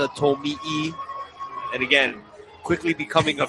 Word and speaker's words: Tomi: But again, the first couple of weeks of the year, the name was pronounced Tomy, but again, hails from Japan. Last name sort of Americanized, so had it pronounced Tommy.